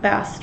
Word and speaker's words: Bast: Yep, Bast rhymes with mast.